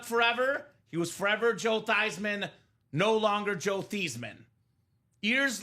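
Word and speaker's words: Theismann: do we got to change the name the pronunciation of your last name from thesman to thyman that start a campaign thyman for the Heisman name was switched Joe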